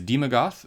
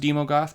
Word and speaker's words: Daemogoth: card next up is demogoth woe eater i'm assuming that this is pronounced demogoth because ae usually is pronounced e although they're not together with the little italicies but oh well demogoth woe eater is a